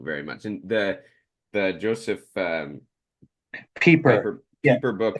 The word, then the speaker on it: Pieper: And the Joseph Pieper, yeah, Pieper book it's is Leisure as the Basis Pie.